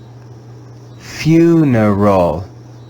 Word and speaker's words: funeral: you you the english vowel e in this word is read with the sound of the schwa let's read this word together funeral funeral funeral remember there